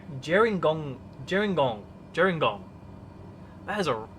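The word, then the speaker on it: Gerringong: now coming up on Jing Jer gong jingong I don't know someplace there Jong here warry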